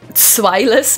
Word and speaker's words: Zweilous: Zwei is the German word for 2. Zwei. Maybe we should pronounce it Zweilous, but that sounds too hard. So let's just say Zweilous.